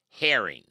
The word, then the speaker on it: Herring: I found him uh your name is Herring exactly I like the fish like the fish so